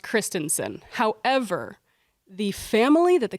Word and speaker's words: Christensen: So I tend to overpronounce Christensen. However, the family that the company is named after is Christensen. Oh, well, that ends the debate right there. So it's Christensen.